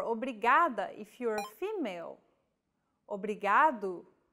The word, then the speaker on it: obrigado: is pronouncing this sound think of the quick tapping motion your tongue makes as it strikes the top gum ridge in words like ladder or butter altogether it's obrigado obrigada okay one last